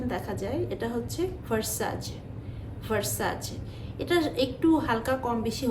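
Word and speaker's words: Versace: যায় এটা হচ্ছে ভার্সাসাজ ভার্সাচ এটা একটু হালকা কম বেশি হতে পারে তবে আপনি ভার্সেজ ভার্সাসি এরকম করে বলা যাবে না এটা হচ্ছে ভার্সাচ তো এই হচ্ছে দশ টার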